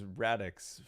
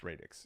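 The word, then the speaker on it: Radix: radex um I've been told that the proper pronunciation for this word is radx um I I read it as radx for my whole life before I was told that it's radex so uh I got let me know how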